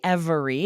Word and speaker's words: every: And so really, it could be every. And sometimes people will pronounce this with three syllables, but often dropping that middle syllable will say every.